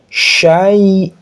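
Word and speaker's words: شيء: dicontoh seperti kadzaba yukadzibu ya waai huruf sya besar ingat bukan sa bukan tsa tapi sya syai ada i ya i ini i dibacanya i bukan e syai tapi syai wa kulla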